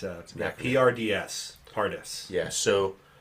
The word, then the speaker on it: Pardes: The acronym is the Hebrew word Pardes, which kind of sounds Spanish actually.